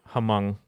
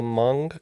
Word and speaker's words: Hmong: neighbor next door and i believe that is the hamong culture yes it is the hmong culture uh sometimes spelled with